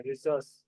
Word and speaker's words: Rousseau: Rousseau's, रिसोर्स Rousseau's, रिसोर्स या रिसोर्स, ऐसा उसका प्रोनाउंसिएशन है, रिसोर्स।